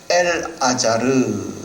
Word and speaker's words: 엘르아살: 정확하게 발음을 하면 엘아자르.